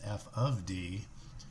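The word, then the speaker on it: f(d): see written this way this thing in the Box does not mean F times D it's pronounced F of D and it simply means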